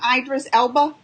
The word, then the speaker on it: Idris Elba: Idris Elba?